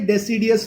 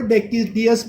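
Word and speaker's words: deciduous: ये कौन सा फॉरेस्ट है, डेसिडियस फॉरेस्ट। बहुत सारे टीचर इसको डेकिडियस फॉरेस्ट भी प्रोनाउंस करते हैं, तो आपको जैसा चाहिए प्रोनाउंस करो, डेसिडियस और डेकिडियस फॉरेस्ट, ठीक है।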